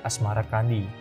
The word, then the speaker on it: Asmarakandi: Sebutan itu mengikuti pengucapan lidah Jawa dalam melafalkan As-Samarkandi yang kemudian berubah menjadi Asmarakandi.